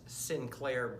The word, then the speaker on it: St. Clair: is Sinclair Byfield and although it sounds like Sinclair it's spelled esti CLA I R and you would think that st. Clair but for some reason it's been advised that he is named Sinclair and I play the